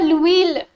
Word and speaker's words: l'huile: The l'huile. H is silent, that means some oil.